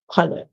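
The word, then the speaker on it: colour: with O Okay so color color you add s colors color so keep in mind when spelling that it has U between the O and the r but the you is silent the next one here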